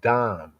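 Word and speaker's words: דם: That you may not bring the guilt of blood of dam in Hebrew, blood is dam. It's like when we say dam in the English pronunciation, we say dam.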